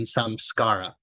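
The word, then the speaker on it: samskara: studies I learned about a yogic term called sscar or pronounced in the west often samcara these essentially are blockages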